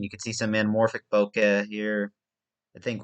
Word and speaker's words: bokeh: of uh anamorphic uh bokeh bouquet uh boca i think it's what it's pronounced bokeh b-o-k-e-h um if i find